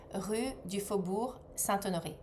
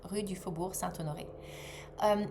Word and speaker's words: Rue du Faubourg Saint-Honoré: So, I will say that again so that you can pronounce it. So, 24 Rue du Faubourg Saint-Honoré. 24 Rue du Faubourg Saint-Honoré.